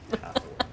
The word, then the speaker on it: Hathowyn: It's spelled the way it's pronounced? Hathawin.